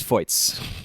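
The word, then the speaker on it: Feuz: I've been saying the Red Stars GM's last name in the French pronunciation, and it sounds like it's the German pronunciation. It's not it's Foyts. Foyts is what we got on Media Day, yes.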